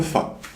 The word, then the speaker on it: ف: Et au niveau de la prononciation, elle va se prononcer comme le f que n on a en langue française.